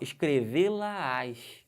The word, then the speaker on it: escrevê-la-ás: Agora, dá um detalhe nessa pronúncia, como é que fica aqui, ó, escrevê-la-ás. Perceberam que tem uma subida de tom?